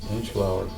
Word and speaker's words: Inchgower: in the wording, but there is an L in the pronunciation. pronounced like- Inchgower. Yes. Okay, Inchgower.